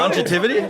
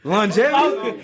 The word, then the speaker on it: longevity: I'm saying just man, why you say it like that, bro? Longetivity. Pause, bro. Longetivity. How else can you say longetivity? Longevity. Oh, whatever.